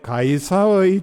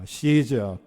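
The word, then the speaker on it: Caesar: 오늘 말씀에 보면은 12절에 가이사의 충신이라는 말이 나옵니다 가이사는 로마 황제를 가리킵니다 우리가 아는 율리어스 시저 시저 케사르 아니면은 가이사 같은 철자를 가지고서 잃는 방식에 따라서 발음을 이렇게 세 가지로 합니다 원래 이름은 우리가 아는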